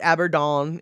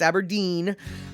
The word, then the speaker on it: Aberdeen: through aberdeen washington so it's not aberdone it's aberdeen um washington where kurt